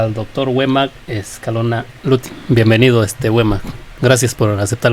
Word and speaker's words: Lutin: Bueno, antes de continuar quiero leer la semblanza de Wema Escalona Lutin, espero que estar pronunciando bien.